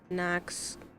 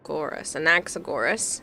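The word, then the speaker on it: Anaxagoras: Uh, Knoxorus. Anaxagorus. How dare you mispronounce the greatest scholar alive. Anaxagorus. Is that better?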